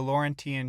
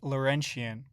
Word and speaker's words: Laurentian: Okay, now let's discuss the depth of the Laurentian Channel. Hold on, I'm getting word it's pronounced Laurentian.